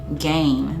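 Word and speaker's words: Gein: and crimes of killer Ed game that's how you pronounce his name it is also known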